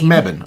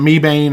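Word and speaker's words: Mebane: Don't don't mispronounce meban. Okay. It a it's not me bane or any of that stuff. We know. It's all right. Well, at least from where we are, we call you Mebban.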